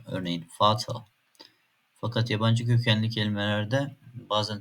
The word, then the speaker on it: Vater: Almancadaki v sesleri f gibi okunur. Örneğin "Vater".